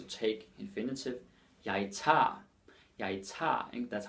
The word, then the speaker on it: tager: Jeg tager, that's how we pronounce it.